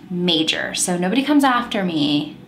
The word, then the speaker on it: Mauger: okay mauger mauger it's malger right no it's apparently pronounced major so nobody comes after me i'm pronouncing it major olga major olga major